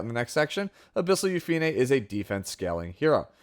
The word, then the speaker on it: Yufine: the character's name as you could hear she pronounces it upup which is very close to eup so so